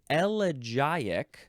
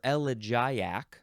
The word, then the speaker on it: elegiac: see yep that's it next word is elic or elak or aliac or elal any one of those is fine it is spelled e e g i a c elic I think that's how I'm going to try to say it elic elic elak elak